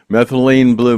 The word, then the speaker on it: methylene blue: I don't know if anybody out there has been hearing about this methylene blue. Am I pronouncing it right? Methylene blue.